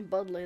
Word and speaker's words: Bodley: And Bodley, of course. Oh, Budley, that's how you pronounce her name.